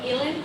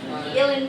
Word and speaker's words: uilleann: So, quick aside, they're called uilleann pipes because you play them with your elbow, which is, in Irish, the word for uilleann is elbow.